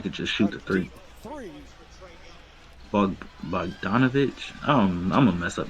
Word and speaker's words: Bogdanovic: Bogdanovich. I'm gonna mess up names. I'm not gonna get into it. No, you said it right. Bogdanovich.